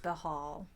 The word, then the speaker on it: Bhaal: Yeah, but according to the Wikipedia, it's So- pronounced Bahal.